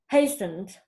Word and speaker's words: hastened: fundamentally and not fundamentally hastened and not hasten it hasten so just like we do not pronounce the T hastened and not not